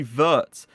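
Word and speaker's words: Wirtz: are going to see verts w is pronounced in german obviously with a v so his name is vert he could be another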